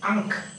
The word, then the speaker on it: ankh: And this one of the alphabet, is pronounced ankh.